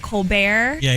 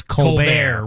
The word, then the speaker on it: Colbert: will pronounce it as Colbert. Right. And it's so funny because I talked to my grandfather about it. My pronunciation of my name actually is Colbert, as if it's an A-U, not an O, which is kind of